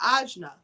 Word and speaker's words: ajna: Now, the third eye chakra, or ajna, chakra in Sanskrit, that's how you say it in Sanskrit, is known as the seats of intuition.